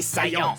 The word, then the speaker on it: Saiyan: tu perdras, prince des Saiyans. Ça se prononce Saiyan.